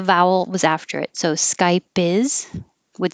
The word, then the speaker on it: Skype: Skype. You wouldn't hear the P. Skype. You just close your lips unless the vowel was after it. So Skype is would sound like sky piss.